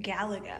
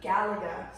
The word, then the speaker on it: Galaga: Galaga. Galaga.